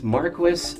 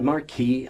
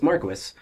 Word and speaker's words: Marquis: Yes, it's Marquis, not Marquis. I don't I don't know he knows how to say his own name, I assume. Um, so it's Marquis.